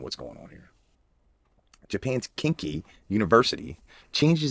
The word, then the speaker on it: Kinki: Kinki pronounced kinky, right?